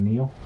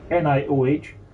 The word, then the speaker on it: Nioh: I find it amusing that the second screen app doesn't know how to pronounce Neo, so it says NIOH. It's like, nope, that's not a word.